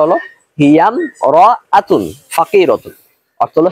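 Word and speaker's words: هي امرأة فقيرة: আমরা অনেকে এরকম বলে থাকি হিয়াম রতন, মানে হামজাটা উচ্চারণ করতেছি না, এটা একটা ভুল। আবার অনেকে এরকম বলে থাকি হিয়া ইম রতন ফাকিরাতুন, এটা আরো ভুল।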